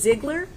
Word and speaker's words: Ziegler: Ziegler? Yes. Okay, I wanted to make sure I was pronouncing it properly.